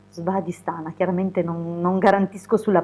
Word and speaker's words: Svadhisthana: quasi a pronunciare, ma vediamo se si chiama Svadhisthana. Svadhisthana, chiaramente non garantisco sulla pronuncia, però questo centro insomma ha questo simbolo